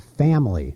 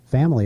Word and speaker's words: family: a four- syllable word and family family is really a three syllable word I mean The Flintstones